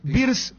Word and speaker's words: Wirtz: ¿Quién es este jugador, cómo se pronuncia? ¿Birz? Florian Wirtz. Wirtz, se pronuncia bien, ¿verdad?